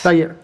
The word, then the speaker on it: Valier: where a teringo uh valier is that how you pronounce the last name valer yes valer is a fixing his sky